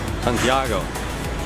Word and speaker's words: Santiago: Santiago. Santiago. You gotta say it like Spanish.